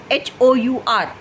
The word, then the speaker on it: hour: Because the pronunciation of H is not there.